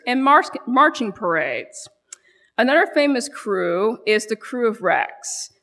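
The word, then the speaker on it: Krewe: By 1815, the first official secret organization, otherwise known as a crew, and by the way that is spelled KR we um was formed.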